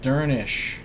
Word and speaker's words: Dernisk: sound on the Y dernisk is pronounced durnish because the final SC cluster sounds like a sh sound durnish Alduin yester is